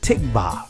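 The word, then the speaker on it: תקווה: for hope is or in the israeli language is pronounced tikvah which means a chord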